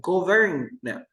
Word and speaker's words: government: And this word, can you pronounce? We never say government. No, government.